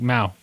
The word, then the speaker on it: mau: Um mouth as my mouth. Mouth. Okay. Like mau.